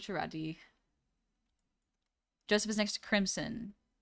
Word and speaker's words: Bucciarati: I always pronounce it Bucciolati. Bucciolati. I thought it was Bucciarati.